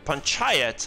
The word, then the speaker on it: Panchayat: Ponchet. What? Panchayat. Panchayat? Oh my god, I would have never fucking guessed that.